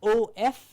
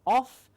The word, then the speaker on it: of: The lower lip goes in, it's a labiodental sound, but here for OF, the pronunciation, the correct pronunciation is not off, it is of, whereas, which is just a vibration of the lower lip.